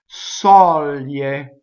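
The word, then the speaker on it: soglie: Next, sɔglie, sɔglie, open O. So G-L-I is lie, lie. So it's like it's a Y pronounced, right, preceded by an L. So, ye, lie. So you can practice it backwards if you have trouble with that.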